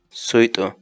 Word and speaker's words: suyt'u: de vídeos en la que te enseñamos a pronunciar algunas palabras en quechua así que nuestra palabra del día por hoy es sweet sweet sweet la palabra quechua en español significa